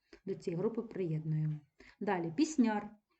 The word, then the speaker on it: пісняр: цієї групи приєднуємо далі пісняр знову називає слово людину за її діяльності тобто людина яка виконує пісні наголошено суфікс яр перед нами наша улюблена